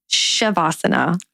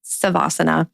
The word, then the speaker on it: Savasana: Some people say Shavasana. I say Savasana.